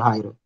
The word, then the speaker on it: Raira: Você não está aí ou você não tem dúvida, Raira? Eu não sei como é a pronúncia correta do teu nome, se é no I ou é no A.